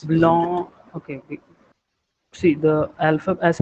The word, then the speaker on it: blanc: For example, the word for white is blanc. C is silent at the end, not pronounced.